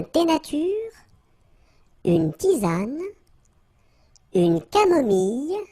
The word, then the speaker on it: camomille: nature, une tisane, une camomille. So remember when we get this E and then double L, it goes like y.